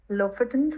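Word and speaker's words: Lofoten: of those islands how do you say them ltin so l f o t n huh okay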